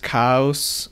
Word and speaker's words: Chaos: It is spelled like chaos, but it's pronounced cows in ancient Latin, whatever.